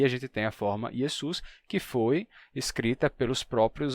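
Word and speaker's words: Ἰησοῦς: quando ele passa para o grego o grego não tem o som de X então yesu passa como yesu que é o mais próximo que tem e a partir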